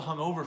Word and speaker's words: hungover: The word hungover, hungover, will stress the second syllable, hungover. Hangover stresses the first, but hungover stresses the second.